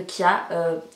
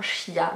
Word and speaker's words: chia: chia ou graines de Kia j'ai cherché un petit peu sur internet et la prononciation on dit normalement chia mais après ça dépend des régions en fait donc voilà donc je